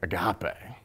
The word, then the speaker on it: agape: Agape. Pretty sure that's that's how I pronounce it.